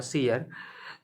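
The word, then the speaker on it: seer: भविष्य में घटित होने वाली घटनाओं पर जो दावा करता है उसको उसको बोल सकते हो सीयर, या सही प्रोनाउंसिएशन इसका होगा सीयर।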